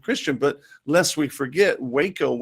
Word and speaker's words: Waco: And look, they weren't even, it wouldn't be considered Christian, but lest we forget, Waco, it's pronounced wacko, was a religious organization out there.